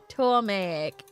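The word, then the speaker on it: Ptolemaic: No, don't pronounce the P. Tomatic? Toamaic kingdom.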